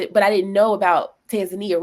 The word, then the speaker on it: Tanzania: that's a region but I would say Tanzania or that's how they say it but Tanzania that would be the one